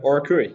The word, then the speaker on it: Oracui: Oracui. Yeah, Oracui. And you're probably thinking right now, what on earth does Oracui mean, right? Yeah. So Oracui was derived from the Latin term oracle, which